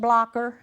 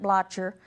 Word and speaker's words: Blocher: Sometimes it's called Blocker, but they pronounced it Blocher.